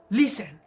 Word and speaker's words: listen: es el verbo escuchar listen tiene el acento en la penúltima sílaba lee listen mientras que el segundo que